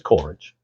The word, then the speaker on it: Coleridge: Coleridge? Not sure how you say it. Coleridge. It's Coleridge.